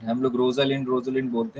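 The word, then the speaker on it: Rosalind: You like it, उसमें touch stone, और इसमें रोजलिंड, हम लोग रोजलिंड बोलते हैं, एग्जैक्ट प्रोनाउंसिएशन तो है रोजलिंड की कैरेक्टर बहुत फेमस है।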